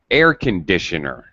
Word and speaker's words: air conditioner: sound becomes conditioner conditioner it's low so instead of conditioner air conditioner do you notice the difference